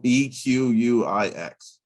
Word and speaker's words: Equix: Just spell it. EQUIX.